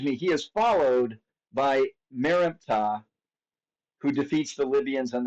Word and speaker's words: Merneptah: Um, his son, Merneptah, I'm saying it over and over again so you remember how to pronounce it. Merneptah um, was 60 years old when he became king.